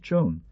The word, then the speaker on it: Juan: Q grant tan and san preserve the end, Juan is pronounced chon.